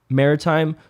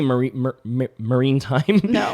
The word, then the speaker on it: maritime: aids to navigation and maritime law enforcement. Did I say maritime? That's how you say it, right? I'll say marine time in my last podcast.